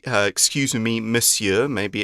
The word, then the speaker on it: Monsieur: Monsieur book now Monsieur it's spelt with an N but it's pronounced Monsieur is the French Way